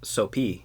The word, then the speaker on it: Sophie: the untrained eye it's Sophie SOP hy is how you spell it but she's Cambodian and in Cambodia they don't have a soft pH oh so in reality our name is pronounced soapy I thought it's gonna